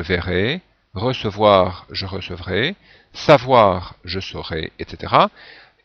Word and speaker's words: saurai: je saurai et cetera ici la prononciation doit être bien précise pour différencier je saurai du verbe savoir et je serai ou je serai simplement si on parle vite du verbe être alors autre mode c'est